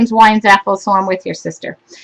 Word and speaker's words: Weinzapfel: her last name but my last name is wine Zaff so I'm with your sister um another design